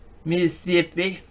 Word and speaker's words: Mississippi: Mississippi. You know, they only pronounce the first vowel.